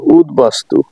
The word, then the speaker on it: উদ্বাস্তু: Nilambari Nilambari number পাঁচ উদ উপসর্গের এর সঙ্গে বফালাম যুক্ত হলে ব এর উচ্চারণ বহাল থাকে যেমন উদ্বাস্তু উদবাস্তু উদ্বেল উদ্বেল ব এর উচ্চারণ বহাল রয়েছে আশা করি আপনারা বুঝতে